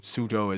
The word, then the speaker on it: Suzhou: Suzhou used to be spelled Soochow. Suzhou. Oh, yeah. The old romanization of things, which is a ridiculous way to spell it if you know Suzhou is how it's pronounced.